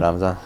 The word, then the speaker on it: Ramzan: Ramzan, yeah.